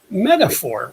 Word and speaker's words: metaphor: Topic A, metaphor. What is metaphor? How do we use metaphoric language? How do we spell metaphor? M-E-T-A-P-H-O-R. The PH sounds like the letter F. Metaphor. 3 syllables.